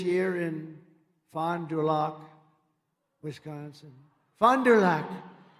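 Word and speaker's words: Fond du Lac: in Fond dulock Wisconsin fonderlac nice I love these names I wish they could give me a little easier name she's a just H they told me that's the way you pronounce it so I hope I got it right but an illegal alien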